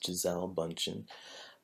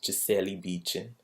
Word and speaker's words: Gisele Bündchen: us who have knowledge, I've been told that's not how you say your name. The real Brazilian way to say her name is Gisele Bündchen. And hopefully I got the pronunciation right.